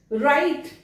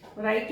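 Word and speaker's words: right: राइट, राइट भी common word है, राइट में जी कहां गया, बोल ही नहीं रहे तो क्यों लिखा हुआ है उसमें?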